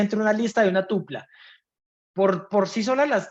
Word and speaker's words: tupla: leyendo eso está bien pero no se dice dupla aunque le pegó al palo le pegó al palo tupla eso correcto entonces las listas que